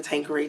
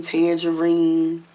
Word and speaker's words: Tanqueray: I was named after the gin, the Tanqueray gin.